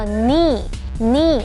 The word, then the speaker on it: knee: Sarah 打网球的时候伤到手腕了。好，第二个单字是膝盖，膝盖叫做 knee。knee 这个 K 是不发音的哦。Can you touch your toes without bending your knees？